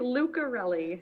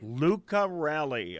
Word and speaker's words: Lucirelli: It's Lucirelli. Lucirelli, okay. Hard C.